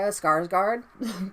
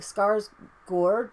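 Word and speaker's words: Skarsgård: to pronounce it so i'm going to pronounce it like they pronounce it in america skarsgard because i don't like scars gourd because the a with the o over the top is an o sound i know it's pronounced i'm and i'm almost certain that the r is rolled so s scars but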